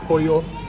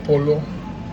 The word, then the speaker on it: pollo: As I said, pollo is the way you pronounce it, but it says polo.